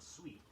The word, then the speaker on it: suite: The word sweet, S-U-I-T-E, is often mispronounced as suit.